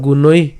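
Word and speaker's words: গুণৈঃ: একে এখানে ঐকার আছে এবং তার সাথে হচ্ছে আবার বিসর্গ আছে, তো গুণৈ অর্থাৎ দীর্ঘই থাকার কারণে আমরা হচ্ছে উচ্চারণটা কি করলাম, গুণই উচ্চারণ করলাম, এবং তার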